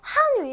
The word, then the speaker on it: 汉语: 위라고 해 줍니다 어 한위 한위 헷갈리시죠 제가 구분하기 알려 드릴게요 우리 한 위 중국어는 약간 억양이 세잖아요 뭐 어 어음 막 이러잖아요 셉니다 그래서 이제 사성을 넣어서 한 위라고 세게 발음해 주시면 되고요 얘는요 우리 올라가요 한위